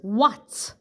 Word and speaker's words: what: The word is what. What. The sounds are w, a, t. What. W, a, t. What. And we spell it W-H-A-T.